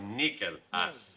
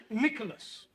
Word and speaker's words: Nicholas: upon a time there was a woman called nickel as it's pronounced Nicholas all right once upon a time there was